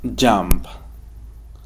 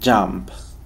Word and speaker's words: jump: Cómo se dice saltar jump jump la u suena como una a como una pequeña a jump jump listo or digo